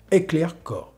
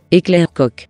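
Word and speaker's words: Heckler & Koch: Parce qu'en français ça donne ça. Heckler Koch. En italien ça se prononcerait comme ça. Heckler Koch. En chinois. Heckler Koch.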